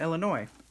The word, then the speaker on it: Illinois: from New Mexico yeah Illinois is the S is silent right yeah Illinois Nick went out the